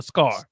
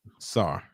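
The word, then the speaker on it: Sarr: Is it Sar or Scar? Sar. S-A-R.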